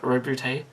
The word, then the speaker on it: Roboute: It's going to take some getting used to calling him Roboute, but apparently that is the official pronunciation.